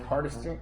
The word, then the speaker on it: Hardister: I'm here with one of our celebrity comics, Hardister. I'm pronouncing that right?